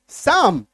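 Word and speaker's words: psalm: आदत हमें होनी चाहिए पी एस ए एल एम एम से पहले एल है काट दीजिए अब पढ़िए साम ठीक है हालांकि शब्द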